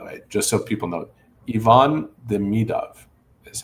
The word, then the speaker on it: Ivan Demidov: Ivan Demidov is how he says his name.